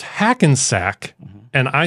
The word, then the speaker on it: Hackensack: Pronounce Hassensack as Hasselsnack.